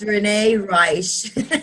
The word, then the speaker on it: Reisch: This is one thing I always have with Renee is I pronounce her name incorrectly, and she always corrects me. Am I right? Yes, it's Renee Reisch.